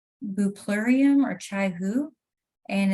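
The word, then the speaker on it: Bupleurum: So it's BUPLUREUM, buplurium, I think is how it's pronounced.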